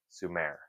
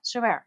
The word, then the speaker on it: Sumer: I heard it pronounce I've always understood it as Su most people say Su Sumerians yeah Sumer Sumerians Sumer because it's s m r yeah suar not Sumer suar this is not